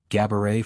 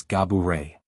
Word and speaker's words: Gabourey: While she often goes along with Gabourey for convenience, likening it to the word cabaret, to give people an easy rhyme, she clarified that the true pronunciation is Gah-boo-ray.